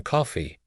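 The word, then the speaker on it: Coffey: Your name is Coffee. Yes, sir. Sir, boss, like the drink, only not spelled the same way.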